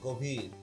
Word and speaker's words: গভীর: এখানে গয়ের মধ্যে যে অ আছে সেই অটা কিন্তু আর গভীর হলো না, এখানে হয়ে গেল হচ্ছে গভীর, কারণ পরবর্তীতে দীর্ঘইকার রয়েছে। পরবর্তীতে দীর্ঘইকার থাকার কারণে এটা হয়ে গেল হচ্ছে গভীর।